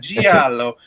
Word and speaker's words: giallo: You have to say it like that, giallo. I learned that from another podcast. Yeah, giallo. If you call it giallo, you're just missing something.